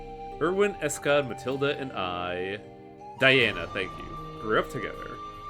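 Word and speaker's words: Daena: are there two dianas in this but Irwin is someone with demon blood Dana that's it Dana but pronounced as Diana but yeah all of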